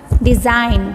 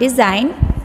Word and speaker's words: design: is silent letter then design design in design word g is silent letter com com in this